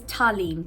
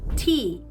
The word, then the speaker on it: Talyn: My name is Talyn, Talyn. Yet I have a million different variations on how people pronounce my name, no matter how many times I correct people. When I moved to America, it was Talyn, like the A doesn't even exist, or it was Talyn, which is the most common